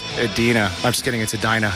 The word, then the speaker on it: Edina: just want to let you know it's actually pronounced Edina I'm just getting into Dinah not a Dina